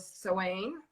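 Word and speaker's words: Samhain: so another name for this holiday is called seain and it's spelled s a m h a i n okay but it's pronounced seain and it's basically like a Celtic a Celtic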